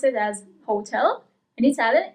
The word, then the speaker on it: hotel: you pronounce it as hotel. In Italian, it's hotel. So you actually the accent is slightly different as well, but especially you don't pronounce the first H.